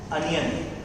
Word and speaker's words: onion: Pronounce it as onion. Onion नहीं, it's pronounced as onion.